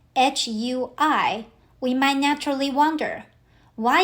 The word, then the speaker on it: 回: The word is "hui".